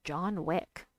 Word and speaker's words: John Wick: It's actually pronounced John Wick.